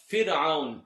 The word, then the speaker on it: فرعون: Now the word Fir'aun, fir, is not pronounced correctly. وَفِرْعَوْنَ ذِي الْأَوْتَادِ. It's kind of like the name Birjas. It's not bridge. You don't come from the fatha, it's kasra.